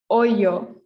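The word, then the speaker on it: hoyo: um if you remember the h in spanish is silent so this is oyo oyo okay can the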